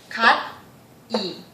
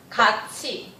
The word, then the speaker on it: 같이: Literally it's called 갓이. But you wouldn't, I suppose that you would never heard this word and this pronunciation from native speaker of Korean. Because Korean speakers would pronounce 같이.